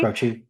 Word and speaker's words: Croce: I don't know how to pronounce his name, last name. Like, I think it's Cro Croce, Croce? Croce.